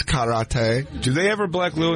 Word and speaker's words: karate: It's actually pronounced karate. Like, it's not karate. It's karate.